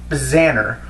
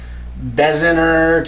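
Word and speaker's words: Bznar: n a r try to pronounce it it's pronounced Baner but I've heard everything from bezer to beaser to Banana how the you even come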